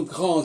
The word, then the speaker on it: grande: au masculin, le D se prononce pas, mais au féminin, il se prononce, puisque le E y est rajouté.